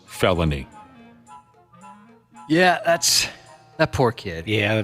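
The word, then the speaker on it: Phelonie: Good for grandma, for standing her ground, The gal said the little girl's legal first name is spelled P-H-E-L-O-N-I-E, pronounced felony.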